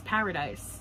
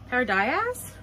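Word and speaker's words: Paradais: So I got I know it's paradise. Do I still pronounce this like paradise? Paradias?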